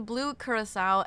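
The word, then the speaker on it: Blue Curaçao: Also, blue curisso is how it's pronounced.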